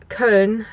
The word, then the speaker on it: Köln: But it's like, it's München or Köln, not Cologne or Munich.